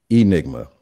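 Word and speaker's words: Ynigma: created um is uh Y nigma is that how you pronounce it Enigma just with a Y just with a Y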